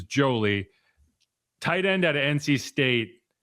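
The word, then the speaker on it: Joly: I believe his name is pronounced Jolie. It's J O L Y. I know a lot of people say Jolly, which is more fun and festive, but I believe it is Jolie.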